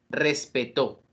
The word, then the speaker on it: respetó: las sílabas que corresponden vamos a mirar este ejemplo respeto respetó respeto tiene acento prosódico mientras que respetó tiene acento ortográfico una de las palabras